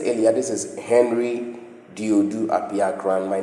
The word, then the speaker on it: Henry Dodu Apiakran: So that is my name Henry Dodu Apiakran.